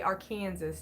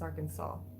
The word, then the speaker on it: Arkansas: kansas i've had yes okay because people say our kansas it's not our kansas it's arkansas like s.a.w you had it dt say it